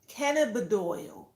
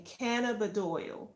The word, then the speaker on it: cannabidiol: CBD oil, for all those who may not know what it is and all it entails, um, CBD is short for cannabidiol. That's the correct pronunciation, cannabidiol.